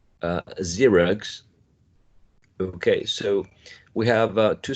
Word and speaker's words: Xerox: In science, Sue, sing, and a voiced sound, which is z, as in zip, zoo, Xerox.